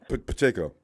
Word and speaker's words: Pacheco: Pacheco.